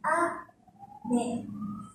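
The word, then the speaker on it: 雨: Mỹ Chúng ta đọc nó từ cao xuống thấp: "a-me ".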